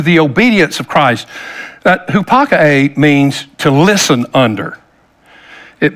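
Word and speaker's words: ὑπακοή: I know anybody that would speak Greek or know Greek would probably cringe at the way I pronounce it, but it's hupakae, the word obedience, hupakae.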